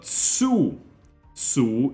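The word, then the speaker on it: つ: even next we have Su is just the S sound plus u making a su sound is pronounced like Su in tsunami this is another exception here instead of saying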